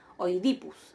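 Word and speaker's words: Οἰδίπους: Oidipus. Acá tenemos dos diptongos. El diptongo oi, en donde observan ahí cómo yo pronuncio hoy, y fíjense, ¿no?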